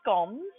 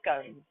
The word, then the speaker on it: scone: beautiful English China ,some scones or scones. Now it depends where you come from in the UK, depending on how you pronounce it. Some people say scone and some people say